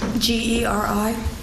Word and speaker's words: Geri: And the last name is spelled. Yes. And where do you work? I'm sorry, Geri is... Geri.